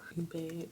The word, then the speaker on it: ube: So ube pronunciation.